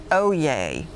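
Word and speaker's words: oyez: correct entry veteran your word your word is oh yay oh yay Matthews of the definition it is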